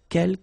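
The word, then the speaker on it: quelques: second one uh K you don't pronounce the final s here Kel means few okay and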